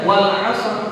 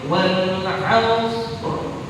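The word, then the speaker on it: والعصر: Nggak boleh dibaca wal asr, nggak boleh. Jadi gimana caranya supaya kita baca, ya, roknya jangan sampai ketinggalan. Agak susah loh. Jadi semua ujungnya rok. Semua ujungnya rok. Jadi dibacanya gimana? Wal aus, gitu.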